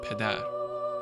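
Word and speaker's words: پدر: In modern Farsi, the word which has the same Indo-European root as father, which is pedar, is naturally spelled PDR, and those who read the script know to pronounce it pedar.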